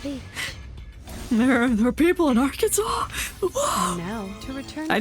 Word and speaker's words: Arkansas: There are people in Arkansas.